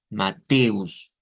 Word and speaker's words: Mateus: Mateus, Mateus, esa es la sílaba tónica.